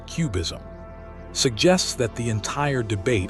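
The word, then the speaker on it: QBism: idea know known as Quantum bayesianism or cubism pronounced cubism suggests that the entire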